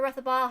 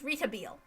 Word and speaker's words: Rethabile: However, Rethabile herself... Oops! Shit! No, that's not how you say her name. It's Retabile.